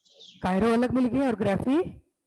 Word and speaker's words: chirography: Chirography, Kiro नहीं बोलेंगे, Kiro नहीं, कायरो। chirography, कायरोग्राफी। अब देखो यहाँ पे हमारे वर्ड कितना मिल गए हैं? कायरो अलग मिल गया और ग्राफी अलग मिल गए।